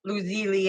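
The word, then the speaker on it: lazuli: my rainbow clear quartz my lapis loser or losily as they pronounce it and my Smoky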